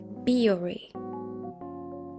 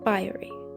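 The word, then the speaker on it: Bioré: It's actually pronounced Biore, not Biore.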